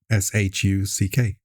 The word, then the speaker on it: Shuck: I don't even know what shuck is. But spell it? SHUCK. Oh, like sharks.